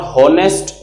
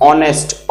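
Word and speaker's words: honest: ऑनेस्ट, this is नॉट होनेस्ट, this is ऑनेस्ट, ऑ। सो ऑ का sound आता है, तो यहाँ एन लगेगा, वोवल साउंड है।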